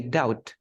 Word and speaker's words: doubt: Or sometimes like the B, we never say the B. We say doubt.